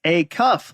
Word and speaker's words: Acuff: I always say it's Acuff, like a shirt sleeve.